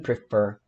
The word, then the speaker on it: prefer: Então, essa última sílaba aqui, ela é a tônica e ela é sanduíche de vogal.